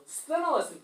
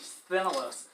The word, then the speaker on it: Sthenelos: Sthenelos, perfect pronunciation. Very hard for us who speak American English to pronounce S-T-H, Sthenelos.